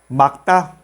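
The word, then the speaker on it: 맑다: Solamente lo pronunciamos la segunda consonante. Por ejemplo, 닭, que significa pollo. Repite conmigo. 닭. Otro ejemplo, magta, magta, que significa está claro, limpio, puro.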